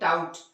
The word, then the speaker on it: doubt: और एक जो आप हमेशा बोलते हैं DOUBT, इसे आप डाबट नहीं पढ़ते हैं, क्या पढ़ते हैं, डाउट। तो यहाँ भी बी का कोई उच्चारण नहीं है, मतलब क्या है, यहाँ बी साइलेंट है।